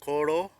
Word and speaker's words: Bikoro: call Boro uh pronounced b i k o r o uh Central Province so